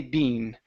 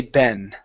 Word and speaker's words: been: Ben now in in the UK they say Bean they they do pronounce the E saying Bean in the US we say Ben Ben okay okay and so